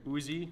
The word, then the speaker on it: Uzi: is a nine millimeter uzi or utse as it's pronounced in israel this is an actual